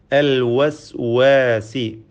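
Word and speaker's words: الوسواس: അൽ വസ്വാസി, വാവിൻ്റെ ഉച്ചാരണം പ്രത്യേകം സൂക്ഷിക്കുക, ശ്രദ്ധിക്കേണ്ടതാണ്. വാവിൻ്റെ മഖ്റജ്, ഉത്ഭവസ്ഥാനം 2 ചുണ്ടുകളാണ്. വാവ് ഉച്ചരിക്കുമ്പോൾ ചുണ്ടുകൾ വൃത്താകൃതിയിലാവുന്നു എന്നത് ശ്രദ്ധേയമാണ്. വ അൽ വസ്വാസ്.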